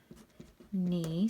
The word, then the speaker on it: knee: to circle my word my knee spelled with a k but you can't hear it it's silent my knee hurt after